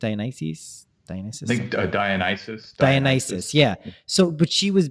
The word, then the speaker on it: Dionysus: how do you say it's a nice he's Dionysus yeah so but she was basically associated with